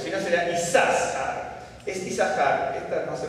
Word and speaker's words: Isacar: pero está porque si no sería isar es isar esta no se pronuncia pero está en la Biblia en el